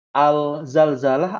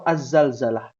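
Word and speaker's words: الزلزلة: Ada surat yang berkaitan tentang gempa namanya surotu Al Zalzalah atau az-zalzalah ada yang bisa menjawab silakan harusnya ya harusnya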